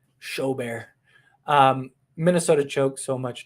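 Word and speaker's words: Gobert: i appreciate it um gilbert rhymes with show bear rudy show bear um minnesota choked so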